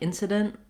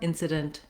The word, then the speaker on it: incident: didn't incident incident then you'll notice as always is the case with t at the ends of words we may or may not release the air for that t it might just sound like incident with a very short m and stopping the air or incident with a little bit of a t sound then when we change